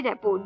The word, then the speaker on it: rapport: इसमें रेपो में जो लास्ट के R और T है ये साइलेंट आते हैं, तो RAPPORT, रेपो, क्लियर।